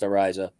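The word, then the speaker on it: Araiza: the door if matt ariza his name is pronounced ariza can hold and can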